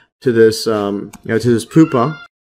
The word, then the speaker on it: pupa: this um to this poopa yeah or Pupa I think that's how you pronounce it and then yeah